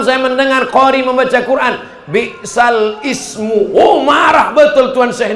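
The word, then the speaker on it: بئس الاسم: Bi'sal ismu. Oh, marah betul Tuan Syekh ini kalau mendengar. Apa itu kata dia? Bi'sal ismu. Tak ada hamzahnya di situ.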